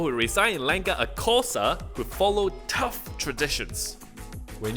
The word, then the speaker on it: Xhosa: The language my guide speaks is called Xhosa.